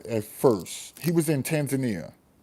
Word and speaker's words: Tanzania: He was in Tanzania. T- He was in, some people pronounce it Tanzania, right? But he was in Tanzania.